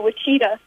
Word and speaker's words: Wichita: at where I put Wichita I put that there because God pronounces it with cheetah yes yes Wichita coming